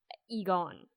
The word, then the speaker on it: Egon: So speaking of nerd, like who do you think is the bigger nerd, Ray or Egon? Right, that's how you pronounce his name.